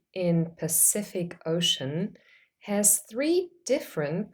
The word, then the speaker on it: Pacific: the letter C in Pacific Ocean has three different pronunciations the first C is a s sound s in the second syllable of Pacific the second C is